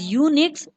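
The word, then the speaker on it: Unix: Firstly जानते हैं students यूनिक्स के बारे में। यूनिक्स pronounced as यूनिक्स इज a popular multi user. यूनिक्स, जिसे योनिक्स से प्रोनाउंस किया जाता है, एक बहुत ही लोकप्रिय multi user multitasking operating system है।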